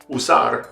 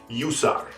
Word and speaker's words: usar: up in spanish but the most common way is just putting like a y sound in front of it the way we do in english sometimes so you instead of saying usar you might say you saw like to use right that's not correct it's us and the